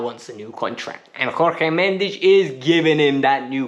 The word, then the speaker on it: Jorge Mendes: His agent is Jorge Mendes. Tash, did I say it right? Yes. Tash said it right? Jorge Mendes.